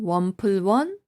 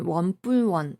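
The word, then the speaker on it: 원플러스원: 원플러스 1을 발음할 때 그대로 원플러스 1이라고 읽어도 되고 줄여서 원플원 아니면 원뿔원 이렇게 이야기해도 돼요. 특히 플러스를 단어 안에서 그냥 뿔이라고 발음하는 경우가 많아요.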